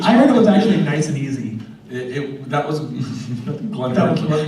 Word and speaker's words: Nicieza: page kept telling people the wrong way to pronounce my name so it was me cheesy it was nice and easy um so he just purposely kept doing it I'd have people come to me at convention I'm creeping me cheesy what is the correct pronunciation you have to try it that's easy it's Spanish so yeah I've never gotten